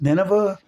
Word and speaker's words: Nineveh: it was Nema Nema I think it was it's pronounced Nineveh to preach and he